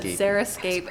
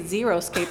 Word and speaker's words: xeriscape: So I've always said xeriscape, and when people say xeroscape, I thought they were mispronouncing it, but it's Which is interesting stupid.